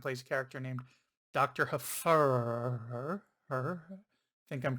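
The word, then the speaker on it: Hfuhruhurr: people mispronounce it but it sounds just the way it's spelled h f u h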